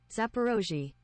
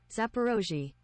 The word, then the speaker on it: Zaporozhye: Zaporozhye. Huh? Really? Zaporozhye. Zaporozhye. I would never. Zaporozhye. Okay, now we know. Now we know. There will be a test tomorrow on this. Zaporozhye power plant in the southern Ukraine.